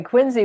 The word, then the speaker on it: Quincy: And by the way, Quinsey, we both learned at least I learned even though I spent time up there is it's like John Quincy Adams but it's But you don't.